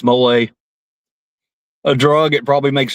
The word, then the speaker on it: mole: Um mole mole pronounced mole tastes like chocolate gravy for chicken.